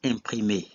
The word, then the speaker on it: imprimer: The last example is imprimer, which is to print. And in this case, I-M is pronounced un.